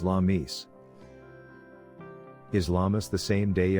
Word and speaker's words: Lammas: Lammas's pronunciation is Lammis.